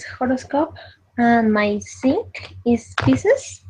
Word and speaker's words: Pisces: What is horoscope, and my sync is Pisces. Pisces.